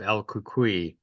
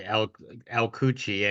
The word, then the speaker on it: El Cucuy: Cynthia, hey, congratulations on your short film, The Legend of El Cucuy. I think Thank I'm you so much.